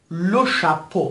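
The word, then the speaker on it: le chapeau: کلمه بعد لو شپو. باز ببینید اون ترکیب سه حرف ا و ی در پایان کلمه است که به صورت او تلفظ میشه، همشون در مجموع او تلفظ میشن.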